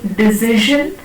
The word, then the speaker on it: decision: Instead of saying decision, we say decision.